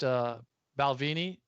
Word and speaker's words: Balvenie: It's a good told me it's pronounced Balvenie in Scotland.